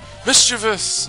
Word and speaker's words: mischievous: remember which episode was I called it mischievious or mischievous isthmus TV yes mischievous it's like a Pokemon